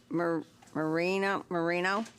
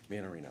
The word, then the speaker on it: Manarino: from MFHD to R44, Marino, did I say it right? Manarino. Manarino, okay.